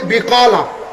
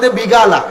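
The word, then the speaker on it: بقالة: এখন বেকালারে সৌদি আরবের মাইষে হয় বিগালা। কি হয়? বিগালা। বিগালা। কফ গাইনের মত উচ্চারণ করে। এখন মিশর, ইয়েমেন। মিশর, সুরিয়া এই সমস্ত দেশে কফ আর মত উচ্চারণ করে। হলে বিয়ালা। কি বলে? সৌদি আরব কফ গাইনের মত উচ্চারণ করে তারা কি বলে বিগালা তো শব্দ বিগালাও না বিয়াও না শব্দ কি বিকলা এখন মিশরিয়ার সৌদি আরবে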